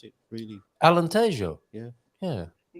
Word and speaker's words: Alentejo: How do we actually pronounce it? Really, Alentejo. Yeah. Alentejo, yeah.